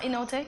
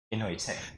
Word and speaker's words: Inoite: So it's not Inote? Can I No. try? Because I think I heard you say it so many times. Inoite. There you go.